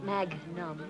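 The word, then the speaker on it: magnum: a whole bottle of champagne waiter a whole Maga why don't you stick with what you've been drinking Charlie and it's pronounced mag num I don't care if it's pronounced box car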